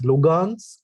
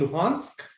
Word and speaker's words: Luhansk: So I think it's Lugansk and Donetsk. Okay, close enough. I'm going to give that to you. Well done, Srijit. It is Donetsk and Luhansk. Little bit pronunciation difference.